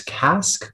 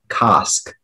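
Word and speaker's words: casque: pronunciations there is one there's cask but there's also kosk cask can you repeat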